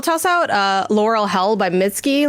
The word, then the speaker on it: Mitski: Laurel Hell is right, but Mitski is Mitski. S-K-I.